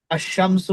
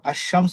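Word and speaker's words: الشمس: সমিয়া বললাম আমরা আশশামসু আলিফ হয় না থাকলাম উচ্চ থাকবে এবং লামের পর হরফটা ডবল উচ্চারণ হবে আশামু আল কমারু এখানে আলিফ লাম উচ্চারণ হচ্ছে কিন্তু আশশামস আলিফটা উচ্চারণ হবে না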